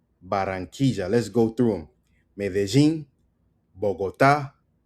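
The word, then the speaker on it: Medellín: Medellin, like we learned, okay?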